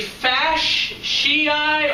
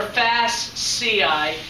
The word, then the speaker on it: fasciae: fasciae it can be it can be fash shiite or fast ci either way i've heard it pronounced um there's one uh